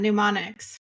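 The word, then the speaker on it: mnemonics: God men menics oh pneumonics you don't pronounce the m pneumonics to remember Concepts so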